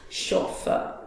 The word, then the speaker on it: chauffeur: But driver, better word for driver is chauffeur. What's that? Chauffeur. This is not chauffeur, it's chauffeur.